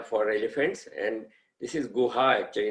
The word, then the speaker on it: Goa: elephants and this is guha actually not goa go just like we say gohan it's between gohan and goa that is how they pronounce it and this is the